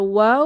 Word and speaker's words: ওয়াও: নাম হচ্ছে ওয়াও আর ওয়াও যখন আমরা উচ্চারণ করব তখন আমাদের মুখের পজিশন এই যে আঁকা ছবির মত রাউন্ড শেপ হয়ে যাবে মুখ গোল হয়ে দুই ঠোঁট গোল হয়ে পাশ হয়ে ওয়াও উচ্চারিত হয় এবং আমাদের ঠোঁট ফাঁকা